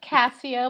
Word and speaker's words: Cassia: of Cassia, but with an A at the end.